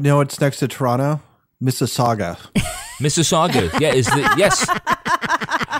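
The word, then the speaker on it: Mississauga: looked at the map I said that's Miss Saga that's right there's no U at the end it's just an i that's right no Miss Saga Miss Saga Saga Toby got in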